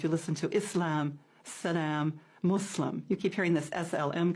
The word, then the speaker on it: Muslim: who does the practice part yeah so a Muslim not a Muslim or we have so many different pronunciations but the most correct is Islam and